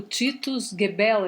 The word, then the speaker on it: Titus Gebel: Eu tinha visto um vídeo você mencionou o Titus Gebel, é assim que se pronuncia?